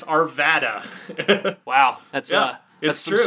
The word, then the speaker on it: Arvada: any town in Colorado you can figure out how to pronounce it by just thinking of the widest way you could possibly pronounce it it's not Arvada as many Californians think it's Arvada wow that's uh yes